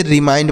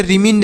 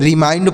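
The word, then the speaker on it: remind: डी से dough इसे रिमाइंड पढ़ेंगे इसे रिमंड नहीं रिमाइंड पढ़ा जाएगा यहां पर आई का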